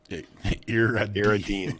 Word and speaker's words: Iridian: And you pronounce it like this. Iridine. Iridine? No, Iridine.